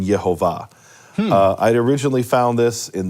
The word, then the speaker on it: Yehovah: that vowel in, and it spells out the pronunciation Yehovah.